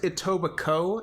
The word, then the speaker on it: Etobicoke: I think it's pronounced Etobicoke, and somehow the K-E at the end of it is not pronounced. Don't fucking ask me why.